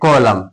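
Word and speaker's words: column: कॉलम सी ओ एल यू एम एन ये क्या है? कॉलम है ना? जस्ट एम के बाद यदि एन आता है तो उसको हमेशा साइलेंट रहता है।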